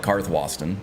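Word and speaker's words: Karthwasten: would be it was it's supposed to be evarted but I'm not going to call it that I'm not going to call it karth Watson I'm most likely just going to call it carthwayston and I'm gonna call it iverstead because that's what I've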